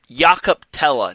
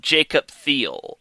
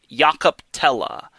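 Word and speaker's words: Jakub Tella: no no no jakubtella it's not he he is from at least from like yugoslavia or russia so it's pronounced jacob tella not jacob thiel jacob tella i i'm not mispronouncing that so jakob tella did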